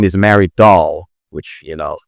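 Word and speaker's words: Dahl: her real name is Mary Doll, which you know rhymes with doll, right? It's not written doll O L, but it's written D A H L. But anyway, it rhymes with doll.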